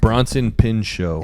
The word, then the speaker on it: Bronson Pinchot: Bronson Pinchot.